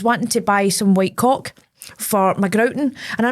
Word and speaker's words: caulk: C A U L K. The L is silent. It's it's And you're making it silent. You're saying The L isn't actually silent. It's caulk. You don't get um a